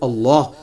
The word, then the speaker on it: Allah: तो उसको अगर अल्लाह का तारुफ करवाना होगा उसकी।